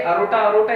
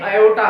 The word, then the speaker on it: aorta: ठीक है, अब एक्चुअली इसका स्पेलिंग देखेंगे तो AORTA है, इसमें जो R है वो साइलेंट है इसलिए अरोटा इसको नहीं पढ़ना है, ये एयोटा है।